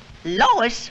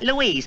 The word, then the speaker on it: Lois: might be a story at the plant Lois Lois my name is Lois not Lois Chief whiz everybody in toy believes me name wrong it's Louis l o u i s Lois or uh Louise now I'm so mixed up I don't